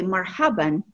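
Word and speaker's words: مرحبًا: vowing with ten we at the end you'll pronounce it marhaban marhaban with ten wing Fatah okay if you want to be more informal you'll just say Marhaba but if you say marhaban it's more formal okay Marhaba of course means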